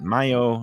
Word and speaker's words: Mayo: And we get, I get mistaken for, especially down here, people pronounce it Mayo, and they think I might be Mexican or Latin.